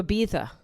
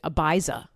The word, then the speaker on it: Ibiza: Dude, Cassie better fucking move to Ibiza. That's how you say it, by the way, because I'm semi-intelligent. The Diddy jurors would have called it Ibiza.